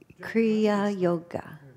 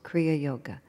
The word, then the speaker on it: Kriya Yoga: Kriya Yoga. Two words. 4 syllables. Kriya Yoga.